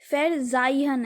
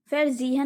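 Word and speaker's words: verzeihen: फेरजाइहन है, फेरजीहन नहीं है।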